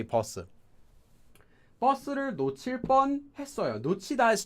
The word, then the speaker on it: 버스: Notice I just said bus, not bus. In fact, you'll find that many foreign words in Korean are pronounced with a double consonant, although they're not written that way.